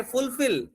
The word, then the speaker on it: fulfill: అలాగే fulfill is a verb, so stress will be on the second syllable.